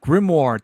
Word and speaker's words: grimoire: i got this cover here yeah that's dope grimoire thank you thank you i can't appreciate that